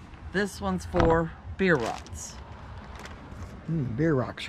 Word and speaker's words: Bierocks: one's for beer rots beer rocks are kind of something different that's how you pronounce it yeah rocks it's like like a beer and in a rock it don't have any